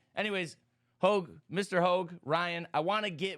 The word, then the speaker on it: Hoge: And right now we have President Ryan Hoge on.